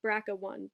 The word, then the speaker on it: BRCA1: understanding of cancer altogether the brca1 pronounced Braca one gene codes for a tumor